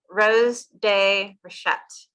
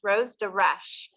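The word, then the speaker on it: Rose de Rescht: I'm going to get Rose de Rochette. Whenever you have to look at your phone, I know. All right, Rose de Reche. Reche. Okay, so it's just Reche, Rose de Reche, not the T.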